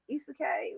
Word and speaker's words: isekai: Isekai, isekai, whatever.